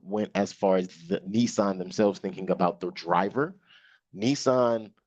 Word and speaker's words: Nissan: Nissan or uh uh we call it Nissan they call it Nissen anyway how they um